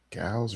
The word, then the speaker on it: Gals: Gals rhymes with cows.